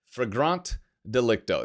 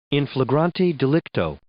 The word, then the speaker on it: in flagranti delicto: Fragrant delicto. Is that the correct pronunciation? Let's see here. In flagranti delicto.